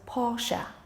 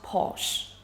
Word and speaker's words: Porsche: Unlike what many think, Porsche is pronounced as Porsche and not Porsche.